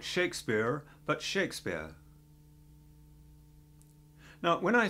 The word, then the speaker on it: Shakespeare: We just don't say the R sound. So, it's Shakespeare.